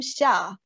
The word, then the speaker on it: Xia: try to um challenge yourself and try to pronounce my first name of my pen name xia and xia means summer and i like this